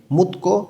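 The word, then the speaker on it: 묻고: ওৎসানিমে পোশাক পরিচ্ছদে, থেহে সম্পর্কে, মুতকো জিজ্ঞাসা করা এবং গো এবং বোঝাইতেছে মুত্তা কোনো কিছু জিজ্ঞাসা করা। তধ্বনির বাচ্চিমের পরে গিয়ক আছে, গটা ক উচ্চারণ হবে।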